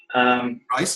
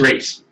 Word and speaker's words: Reese: Rice, yes. Did I pronounce it? Is that Rice or Reese? It's Reese.